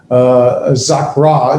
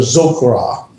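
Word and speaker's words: זָכְרָה: That's how I know to pronounce it zakra instead of zokra.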